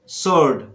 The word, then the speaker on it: sword: Exception में है W silent तो है, लेकिन यहाँ पर आपका जो है बिगिनर W नहीं है और ना ही W के बाद R आ रहा है, फिर भी यहाँ पे W साइलेंट है। जैसे आपको बोलना है to answer answer answer, sword sword, वर्ड वर्ड वर्ड।